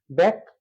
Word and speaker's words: ব্যাখ্যা: একটা ক আরেকটা খ তাহলে সঠিক উচ্চারণ হচ্ছে ব্যাক থেমে গেলাম ব্যাক থেমে যাওয়ার কারণে এটা হচ্ছে বদ্ধাক্ষর ব্যাক খা এটা হচ্ছে সঠিক উচ্চারণ অর্থাৎ খ এর সাথে যে জ ফলা আছে এ কারণ যে দুটো খ হবে এমনটি নয় যেহেতু এটি মহাপ্রাণ এজন্য তার কেবলই আগের যে অল্প প্রাণ ধ্বনিটি আছে সেটাকে সাথে নিয়ে বসবে ব্যাখ্যা খা সঠিক উচ্চারণ হচ্ছে ব্যাখ্যা এবার চলে আসি এটা